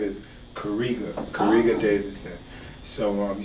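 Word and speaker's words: Karega: it like that my real name is kariga kariga davidson so um you spell it k-a-r-e-g-a so i just took the k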